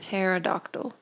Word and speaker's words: pterodactyl: it's a silent key play it for pterodactyl pterodactyl pterodactyl that's really embarrassing I'm going to